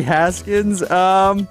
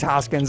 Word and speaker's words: Hoskins: Dirty Haskins. No. That's incorrect. First base. You got to say it correctly. What? Think about your vowels there. Hawkins. Vowels. Your vowels. It's Reese Hoskins.